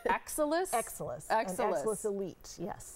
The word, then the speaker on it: Exilis: particular treatment um we're going to let you pronounce it because I was working on it during the break it's excellus excellus exus elite yes excellus Elite so this is something that can be used